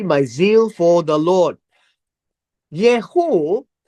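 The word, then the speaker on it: Jehu: Yehu is, this is Yehu speaking, or spelled with a J.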